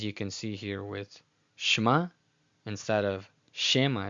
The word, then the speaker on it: Shema: it's not supposed to be overemphasized in its pronunciation. As you can see here with Shema, instead of Shema, it's not Shema, it's Shema.